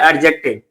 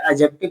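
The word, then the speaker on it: adjective: बहुत सारे बच्चे इसको प्रोनाउंसिएशन गलत बोलते हैं। प्रोनाउंस गलत करते हैं। वो बोलते हैं एडजेक्टिव। लेकिन यहां पे डिसाइलेंट होता है। जिसको मैं स्टार लगा रहा हूं। यह डी साबित होता है। इसको एडजेक्टिव नहीं पढ़ के एडजेक्टिव पढ़ते हैं।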